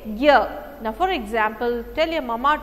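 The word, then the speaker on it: ज्ञान: In Malayalam we say knya, okay, knyanam, knya, but in Hindi you have to say gyan, okay, gyan, it is gya.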